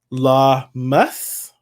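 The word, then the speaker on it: Lammas: Lamas, that's how you say it.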